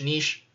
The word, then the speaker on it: niche: have you say it it can actually be pronounced both ways from doing some research so niche niche same word but you do you